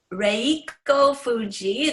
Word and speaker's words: Reiko Fujii: My name is Reiko Fuji. That's the Japanese pronunciation, sort of. I guess it's Reiko, because the Japanese pronounce ours as L.